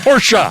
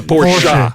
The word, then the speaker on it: Porsche: how he got paid here's a Porsche porsa I'm sorry you have to say it right it's a Porsche yeah Porsche Porsche yeah